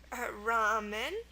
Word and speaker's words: ramen: Ramen. See, the A makes the ah sound.